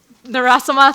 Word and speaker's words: Narasimhan: Her last name starts with the letter N, and Narasama, thank you. I just don't want to mess up the pronunciation, but with her lab, we have actually